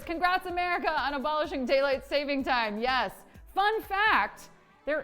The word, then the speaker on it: daylight saving: 500 seriously daylight saving i was saying it wrong like my entire life until i hosted a game where the the fact was it's actually just daylight saving what else oh mark